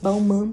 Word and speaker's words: Balmain: Balmain Paris, né? Porque o jeito certo de falar é Balmain. Mas tudo bem. Todo mundo fala Balmain. O MC Daniel fala Balmain. Então todo mundo acaba falando Balmain também.